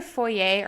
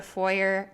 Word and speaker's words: foyer: The thieves were let into a locked, it's either foyer or foyer. I've heard it pronounced both ways.